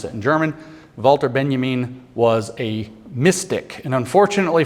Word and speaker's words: Walter Benjamin: to spell it Walter Benjamin but it's w wter Benjamin when you pronounce it in German wter Benjamin was a Mystic and unfortunately for the conspiracy